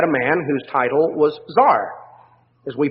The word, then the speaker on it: tsar: realm you had a man whose title was tsar as we pronounce it in english spelled out generally c-z-a-r